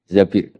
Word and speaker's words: Zabir: Di hadis ini bukan bacanya bukan Zubair, tapi Zabir.